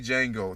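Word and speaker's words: Django: porn like I like the movie Jango the D is silent I don't want hear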